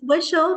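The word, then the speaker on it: switchel: The Swishle, the ginger Swishle.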